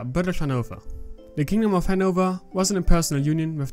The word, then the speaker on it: Hanover: emery now referred to hanover as hanover it's a german pronunciation and more natural to me it also induces less pain in saying henover or something similar now that might sound